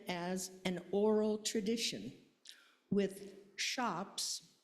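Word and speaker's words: scops: Old English literature began as an oral tradition with shops spelled s c o ps but the c is pronounced as an h with shops or poets reciting epic poetry for memory.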